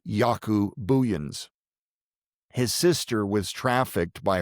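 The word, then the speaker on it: Jaco Booyens: You can just His name is not spelled the way you would hear it pronounced. It's J A C O B O O O Y Ns.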